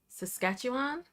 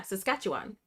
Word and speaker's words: Saskatchewan: Um, there is an organization in I looked up how to pronounce this Saskatchewan, right? I looked up how to pronounce this, too. And I was practicing all day. S Yeah, Saskatchewan.